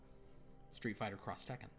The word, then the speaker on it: Street Fighter X Tekken: Oh, Street Fighter X Tekken, they pronounce it Cross Tekken, according to Galanorian Saber. Street Fighter Cross Tekken.